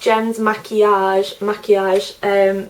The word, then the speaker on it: Maquillage: My YouTube username is pronounced Gem's Maquillage. People always like pronounce it in different ways and stuff. Maquillage is basically the French word for makeup, so that is why I chose that.